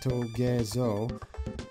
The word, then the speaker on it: Togezo: These Togezo enemies, yes, that is how they're pronounced, Togezo, is, they give you none other than Needle ability, another Kirby mainstay.